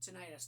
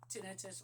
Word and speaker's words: tinnitus: Anyway, this will help with tinnitus. Now, I recently have a very slight case of tinnitus or tinnitus. And it really doesn't matter how you pronounce it, because people pronounce it different ways.